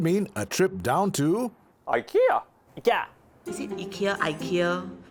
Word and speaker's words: IKEA: uncle then going to ikea taxi uncles actually pronounce it quite like the swedish which is ikea so